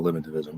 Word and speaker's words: eliminativism: And so what you do in covering folk psychology, for instance, the argument is there's folk psychology and there's eliminativism. Am I pronouncing that right?